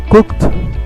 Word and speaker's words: cooked: ver, es un sonido, la E es muda en la mayoría de los casos y nada más se pronuncia la D o la D o la K al final, ¿no? Como en washed, en cooked, esa suena como T, y played, la D solita.